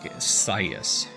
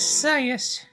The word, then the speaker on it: Scias: Starting with an S and a C. Like I want to say it like scythe, like scias. That that is why I'm I'm going with that pronunciation.